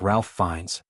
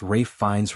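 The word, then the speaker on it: Ralph Fiennes: Some have pointed to actors like Ralph Fines, often pronounced Rafe Fines rather than Ralph Fines, or Sir Ronin, whose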